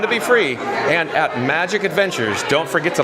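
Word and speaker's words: Majic Adventures: And real quick, John with Fun to Be Free just wants to mention that Magic Adventures is spelled M-A-J-I-C.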